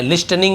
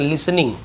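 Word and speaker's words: listening: लिसनिंग, यहाँ पर भी देखें टी साइलेंट है, लिस्टनिंग नहीं पढ़ेंगे, लिसनिंग।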